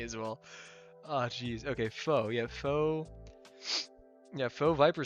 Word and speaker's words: faux: Is it faux? As in like fake? Is that how you pronounce it? Am I pronouncing it correctly? I think I am. Let's see. Foe. Oh yeah, it is faux.